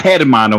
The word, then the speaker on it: hermano: It's not Hermano, by the way. It's Hermano. The H. The H is like silent. The H is silent, man.